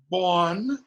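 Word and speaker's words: bān: B-A-N, bon, becomes bone.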